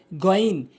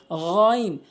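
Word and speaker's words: غين: আইন এরপরে গন ভুল উচ্চারণ। গন ভুল উচ্চারণ। এর সঠিক উচ্চারণ হচ্ছে গাইন গাইন হলকের শেষ থেকে গাইন গাইন এভাবে উচ্চারণ করবেন গাইন হলকের শেষ থেকেইন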